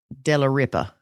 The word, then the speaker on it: Dellaripa: James and Ginger Dellaripa. And yes, I'm pretty confident in how I pronounce that.